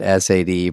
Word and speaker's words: Sade: Like she spells it S-A-D-E, pronounce it Sade.